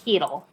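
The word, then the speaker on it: Chytil: How do you say his last name? Because I don't know. Hedl. Is it really Hedl? Yeah. It's Hedl.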